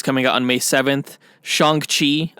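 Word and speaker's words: Shang-Chi: out on may 7th shang chi i've been pronouncing it sheng chi this whole time like an idiot and it's shangchi yeah that's coming out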